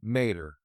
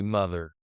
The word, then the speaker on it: mother: The th sound is very soft. We don't say mater, we say mother.